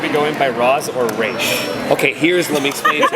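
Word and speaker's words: Ra's: If you are outside of the League of Assassins and someone who is rogue and it's a way of disrespecting the leader, you say Roz.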